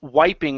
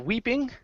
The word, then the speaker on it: wiping: This word here is pronounced wiping instead of weeping.